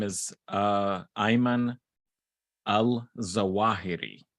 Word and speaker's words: Zawahiri: it uh how is it how do you pronounce his last name uh well his name is uh ayman al zawahiri zawahiri it's dr alzeroth yes that's true doctor ayman